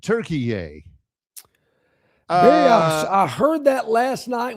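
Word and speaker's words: Türkiye: It's T-U with a couple of dots on the top, R-K-I-Y-E, and now they pronounce it Turkey.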